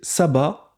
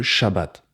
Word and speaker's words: shabbat: cette erreur de prononciation ils disent sabbat au lieu de shabbat le mouvement adventiste étant